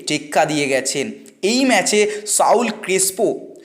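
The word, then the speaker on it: Saúl Crespo: দিয়ে গেছেন এই ম্যাচে সাউল ক্রিস্পো সল ক্রিস্পো মানে উচ্চারণটা এরকমই সল ক্রিস্পো তো তিনি ম্যান অফ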